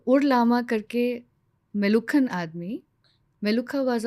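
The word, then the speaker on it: Meluhha: एंड how this word appeared जो मेलुहा मेलूहा अमीष त्रिपाठी जी का जो नवेल आया ना मेलूहा उन्होंने फेमस कर दिया actually it is pronounced S बेलुखा मेलुखा double ख है उसमें सो इन वन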